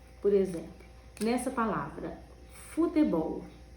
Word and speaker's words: futebol: Por exemplo, nessa palavra, futebol. Qual é a sílaba tônica? Ó, futebol. Bol é a sílaba mais forte.